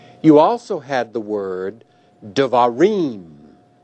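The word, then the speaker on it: דְּבָרִים: You also had the word devarim. In the word devarim, reem is the accented or tonic syllable.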